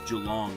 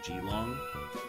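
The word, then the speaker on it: Geelong: Like, do the Jalong fans get upset where they're like, "No, it's it's Jalong, not Gilong.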